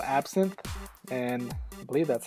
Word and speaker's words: Absinthe: this is a new software and it's called absin and I believe that's how you pronounce it so I'll leave the links down